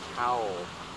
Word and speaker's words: towel: lưỡi mình đẩy trên towel, towel. Và khi mình làm tower, bảy miệng ra cái âm mình làm trong miệng tower, tower và tower.